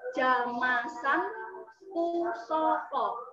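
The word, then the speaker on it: Jamasan Pusaka: So here, although it is the vocal letter are consist of all A, but it is actually pronounced as Jamasan Pusoko. The first A here and the last A here are different. The first one is Jamasan, and the second word is Pusoko.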